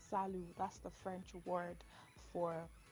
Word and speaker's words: Salut: so the first greetings we have here is Salo Salo is spelled s a l u t Salo s